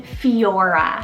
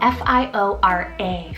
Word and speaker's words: Fiora: Now I love the name Fiora, spelled F-I-O-R-A, Fiora.